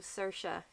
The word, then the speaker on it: Saoirse: se yep Saoirse but there are about three pronunciations of Saoirse in Ireland depending on where abouts you're from because there are different